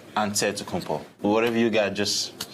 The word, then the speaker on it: Antetokounmpo: in a given way you gotta say with the d so it's but in the greek way you say with the nt like antetokounmpo whatever you got just